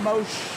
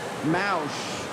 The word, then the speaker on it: Mosh: over held by Adam Mosh. I heard the pronunciation on NCAA's as mouse. Um I went back the the YMCA guy from Nats said Mosh.